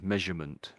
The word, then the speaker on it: measurement: So, so to me it just sounds like we're I'm saying measure and then mint. Sort of mint on the end of it. I know it looks like mint, but we end up saying mint when we put this when we say quickly.